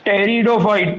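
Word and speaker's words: Pteridophyte: सबसे पहला डिवीजन होता है एल्गी, दूसरा डिवीजन होता है ब्रायोफाइट, तीसरा डिवीजन होता है टेरिडोफाइट, पी साइलेंट है, चौथा डिवीजन जिम्नोस्पर्म और पांचवा डिवीजन एंजियोस्पर्म।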